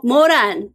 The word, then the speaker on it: Moran: Moran Cho, I think is how you pronounce it. Moran. Moran, yes.